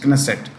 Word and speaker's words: Knesset: K is pronounced Knesset.